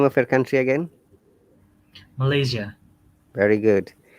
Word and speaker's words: Malaysia: word what's the name of your country again malaysia very good it's as sounds like a little